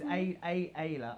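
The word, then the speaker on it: Ayda: It's Ayla.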